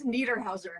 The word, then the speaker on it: Niederhauser: How do you pronounce your last name? No problem. It's Niederhauser.